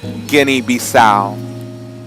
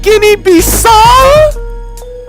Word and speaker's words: Guinea-Bissau: Well, is it pronounced Guinea-Bissau? Wrong, wrong, wrong. Okay, well, is it pronounced Guinea-Bissau? Absolutely not. Well, let me try Guinea-Bissau. No, not at all. Well, is it Guinea-Bissau? Yes, yes, yes, yes.